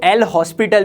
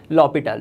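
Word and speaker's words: L'Hôpital: अब काफी सारे बच्चे इसको एल हॉस्पिटल भी बोलते हैं, ठीक है, लेकिन इसका करेक्ट प्रोनाउंसिएशन है इस लॉपिटाल रूल।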